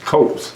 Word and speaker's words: Coates: Coates. So, it's actually how they sound, right? Coats.